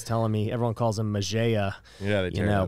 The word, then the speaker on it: Mejia: Today, I've got Mejia. Did I say that right? You said it right. All right, good. He was telling me everyone calls him Mejia.